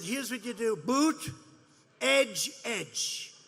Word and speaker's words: Buttigieg: Boot, edge, edge.